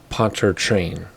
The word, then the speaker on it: Pontchartrain: if it was a ponte thrall or poncharchen or something but everybody seems to say poncher train so that's what we're